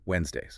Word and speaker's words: Wednesdays: Next word, Wednesdays. Wednesdays. We always have our team meetings on Wednesdays. Wednesdays, the trick here is a silent D. You completely ignore it and just slide right past it.